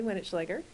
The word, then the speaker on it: Wenetschlaeger: Judge Winnichleger.